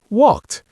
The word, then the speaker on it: walked: Yes, walked. You hear that little sound at the end?